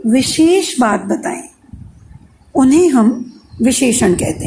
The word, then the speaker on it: विशेषण: विशेषण नहीं, विशेषण। हमें उच्चारण भी सीखना है, ठीक है?